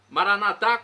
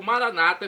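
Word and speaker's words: Maranatha: aramaico dialeto de Jesus maranat como dizemos nós católicos ou Maranata como dizem nossos irmãos separados os evangélicos ou protestantes não importa a pronúncia o significado é o mesmo vinde Senhor Jesus um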